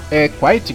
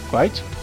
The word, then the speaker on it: quit: Eu pensei que esse Quite, que se pronuncia, né? Quite.